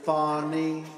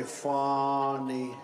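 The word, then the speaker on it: Fani: You saw what happened in Atlanta with Fonny? F-A-N-I, Fonny. How do you pronounce F-A-N-I, Fonny?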